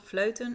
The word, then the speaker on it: Vleuten: But where I live is called Vleuten. It's hard to pronounce that in English.